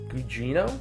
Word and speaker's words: Gugino: But you also have, pronounce me right, Gugino? Yep, Carla Yes, Gugino.